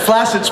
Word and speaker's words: flaccid: And flaccid's pronounced flaccid, by the way.